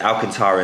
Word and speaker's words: Alcantara: in this car it's an alcantara interior it's alcantara and then arctic gray however i have chosen to do alcantara and neodymium just add a little bit of